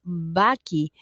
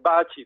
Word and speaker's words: Bacci: al doctor Baqui. ¿Se pronuncia así, doctor? ¿Cómo está? Placer, es Bachi, como si fuera CH, pero sí. Bachi, como si fuera beso.